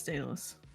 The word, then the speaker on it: Daedalus: Oh yeah, no, yes, yeah, it's Daedalus. Okay then. I just wanted to tell. I feel like I need to let's get that off my chest that I've been making everyone pronounce it wrong for the past year.